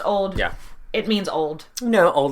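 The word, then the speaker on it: auld: old Alliance yes and in Scottish it's spelled a u l d but it's it's pronounced old it means old no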